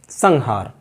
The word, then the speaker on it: संहार: भी बोल देते हैं, लेकिन संहार सटीक इसका उच्चारण है संहार।